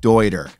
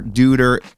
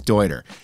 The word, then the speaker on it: Deuter: Dude, it's pronounced Deuter. I didn't name them. They named them. It was a man's last name. That's how it's pronounced. No more Deuter. It is Deuter.